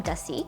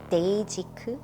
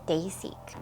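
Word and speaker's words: Dasique: and it's actually from Dusty. I actually learned recently that I've been pronouncing this wrong. It's Dayzik, so Dayzik.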